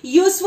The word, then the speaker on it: useful: That is useful. It sounds like Y.